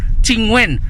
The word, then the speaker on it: Qingwen: Tsaka yung Qingwen niya is Q-I-N-G-W-E-N. Kaya Qingwen po yan, ganyan ang mga inchik mag-pronounce ng Q, no?